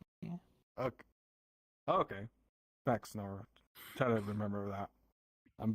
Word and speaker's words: PhaxeNor: yeah, PhaxeNor? the PH is F. Mm-hmm. PhaxeNor. Yeah. Okay. Oh, okay. PhaxeNor.